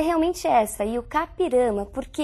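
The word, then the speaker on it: I-Juca-Pirama: o conhecidíssimo texto e o kirama e a pronúncia é realmente essa e kirama porque é um termo de origem indígena Nós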